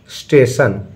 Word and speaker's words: station: स्टेशन। देखो बच्चों TIO इसको स उच्चारण करते हैं, स पढ़ते हैं।